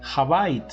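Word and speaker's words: הבית: Es decir, dentro del judaísmo ya el templo se conocía como la casa, o que en hebreo se pronuncia Habait.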